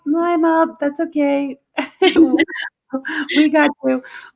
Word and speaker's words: Lima: A lot of people have come in too and called it Lima, and I'm like, no, Lima, that's okay.